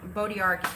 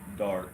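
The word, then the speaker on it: bois d'arc: So Bodiark, is that Bodark? Bodark. I am so sorry. Why is the D like that? Like it's pronounced. It's a French word.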